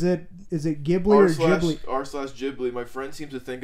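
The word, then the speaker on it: Ghibli: to think it's pronounced jibli is he correct the actual word uh and they typed it out ji is meant to have a hard G sound but Miyazaki pronounces with the soft G Miaki is right miak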